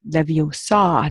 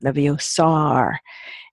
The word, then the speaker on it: Leviosa: So she says, pronounce it Leviosa, not Leviosar.